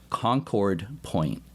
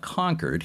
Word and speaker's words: Concord Point: Before we start, I'll mention that they pronounce the name of the lighthouse down there in Maryland, Concord Point. Not Concord.